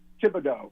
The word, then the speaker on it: Thibodeau: Oh, you mean Kayvon Thibodeau? Oh. Yeah, Kayvon. Oh, Thibodeau. Yeah, okay. Thibodeau. Yeah. So we can practice. It's just like the Knicks head coach, Thibodeau. Thibodeau.